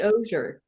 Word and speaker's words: Ozier: See, I say Ozier. That's how he says it.